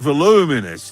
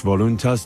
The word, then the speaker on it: voluntas: Adventure ad rectum to whom, fet voluminous to her, seek it, inhale it, enter it.